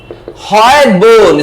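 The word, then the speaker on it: hyoid: तो हम पढ़ेंगे हॉयड बोन। स्पेलिंग हो सकता है थोड़ी गड़बड़ हो, बट उसका नाम क्या है? हॉयड बोन।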